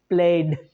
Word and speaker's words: played: It's played, d sound, no y sound, right?